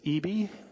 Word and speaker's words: Eby: Eby, spelled E-B-Y, but rhymes with B-B.